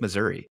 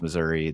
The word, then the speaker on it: Missouri: is Missouri Midwest um people in the southern part of the state say missou and then other people from outside of the area they say Missouri and you're like okay well misery yep which is which